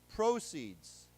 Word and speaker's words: proceed: Okay, but then as a reminder, let's think about the word, the 动词, to continue, to proceed. To proceed. Okay, so again, same word, different meanings, different accent.